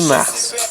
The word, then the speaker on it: mars: Dans ces cas-là, le S, on la prononce. C'est très important de prononcer le S. Dans le cas de mars, le printemps commence le 21 mars. Le S, il faut la prononcer.